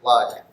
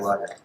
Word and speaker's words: Lager: pronounce my last name, because it's just like the beer, you know.